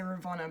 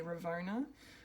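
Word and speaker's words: Ravonna: her name um so i want to say ravana but i'm pretty sure we hear mobius say ravona um as in ravona wren slayer the judge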